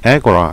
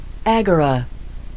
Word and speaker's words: agora: 영어식 발음은 에고라입니다. 사람들이 모여서 활동, act 하는 곳이어서 에고라 이렇게 되었죠. 발음 들어보세요. Agora, Agora.